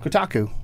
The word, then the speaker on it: Kotaku: good connections to things how do you pronounce that is it Kotaku Kotaku that's how he says it Kotaku okay I'm going go with him because he works there all right that's my